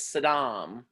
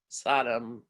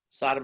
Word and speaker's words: Saddam: The man's name is Saddam. And I did a whole paper on the homophobia of his mispronunciation of the name Saddam. Sodom, of course, means sodomy to us, means Sodom and Gomorrah.